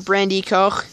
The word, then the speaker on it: Brandi.Koch: today I'm here with my friend Devin from Brandy Co that's how it's pronounced apparently um go check out his channel